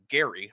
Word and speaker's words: Gerry: In fact, it's named after like an early Massachusetts governor named Elbridge Gerry, hard G.